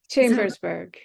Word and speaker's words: Chambersburg: So she's a podiatric surgeon who practices with UPMC Richards Orthopedic Center and Sports Medicine in, I'm going to pronounce this correctly now. Is it Chambersburg? Chambersburg.